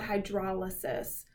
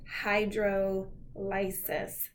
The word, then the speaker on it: hydrolysis: The opposite of this is a special type of catabolic reaction called hydrolysis. Or if you want to mispronounce it, you can call it hydrolysis.